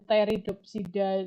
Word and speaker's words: Pteridopsida: P-nya kayak hilang. Jadi Psilopsida, Phenopsoda, kemudian Pteridopsida. Jadi PP di depannya tuh kadang suka hilang gitu, tidak terdengar ya.